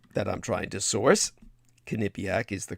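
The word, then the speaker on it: Quinnipiac: a kipc poll that I'm trying to source kipc is the correct pronunciation it's spelled Qi n p a having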